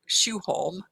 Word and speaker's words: Sjoholm: When I'm talking to people in this country, I just say Shoe Holm. But if I'm in Sweden or Norway, I say something more like Shoe Holm.